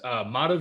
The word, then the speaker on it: Madhav: Madhav is my name. I like to say modify without the Y is the pronunciation.